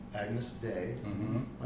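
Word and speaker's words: Agnus Dei: One of those songs was a song called Agnes Day. Mm-hmm. Am I pronouncing that right? Yep. Agnes Day.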